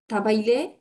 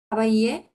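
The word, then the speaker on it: travailler: আচ্ছা এরপর যেই থাবাইলে না না, ডাবল এল সাইলেন্ট, খাবাইয়ে, থাবাইয়ে খাবাইয়ে, আহ, যেই থাবাইয়ে হ্যাঁ,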